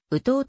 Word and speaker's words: ウトウ: は無関係でウッド腕はなく打とうと発音するきた日本沿岸からカリフォルニア